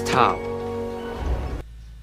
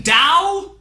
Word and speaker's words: Tao: This is Tao. You mean Tao? The word that's spelled like Tao but pronounced like Tao except by people that know absolutely nothing about Chinese?